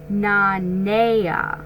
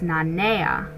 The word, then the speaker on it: Nanea: a phonetic spelling okay name is pronounced na naya okay so it's nanea okay so this journal isn't